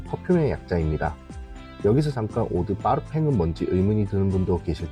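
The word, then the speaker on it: parfum: 용어들이 프랑스식으로 사용되고 있어요 그래서 퍼짐은 프랑스식으로 파르팽 발음하기 때문에 프랑스 브랜드들은 오드 파르팽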